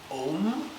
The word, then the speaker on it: Om: used to the pronunciation it's actually om so it's a u m if you can imagine it's known as the universal sound it's MBE the first